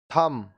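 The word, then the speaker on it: thumb: B silent. अब ये सारे जो वर्ड्स है इसमें बी साइलेंट होगा। कॉम, कॉम, कंघा, कॉम, कंघा, लैम, मेमना, लैम, मेमना, थम, अंगूठा, थम, अंगूठा।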